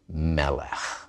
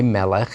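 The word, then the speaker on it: מֶלֶךְ: And that also solves puzzle number 1, why Melech is not accented on the last syllable, like a normal Hebrew noun.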